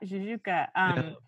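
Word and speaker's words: Jajouka: Am I pronouncing that right? Yeah, Jujuka.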